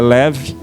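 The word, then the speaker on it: לב: O texto em si é leb, mas a pronúncia é leve.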